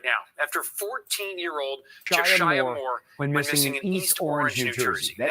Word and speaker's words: Jashyah: Jashyah is how you pronounce it.